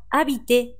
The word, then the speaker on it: habite: この habite ですが、住むとい